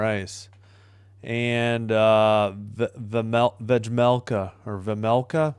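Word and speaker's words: Vejmelka: And uh Vlmea or Vamela, I think the J is silent silent. Vamela for Utah, but the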